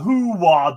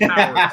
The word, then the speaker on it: Howard: Now we've got Who Wad the Duck, Matilda.